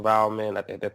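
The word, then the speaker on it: Waldman: um tone if you will with Dr Dr valman that's how you say his name his dad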